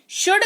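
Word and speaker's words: should: क्यों नहीं यूज किया शुड का मतलब होता है चाहिए एस एच ओ यू एल डी L silent रहता है शुड का मतलब होता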